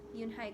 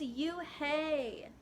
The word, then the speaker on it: Unhei: No, Yoon-hai corrected. It's spelled Unhei. It's pronounced Yoon-hai. "Oh, it's you-hey," the boy said.